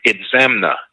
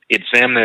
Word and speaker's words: Itzamna: And those people were said to have come from the east across the sea, led by their leader, Itzamna. Itzamna is spelled I-T-Z-A-M-N-A.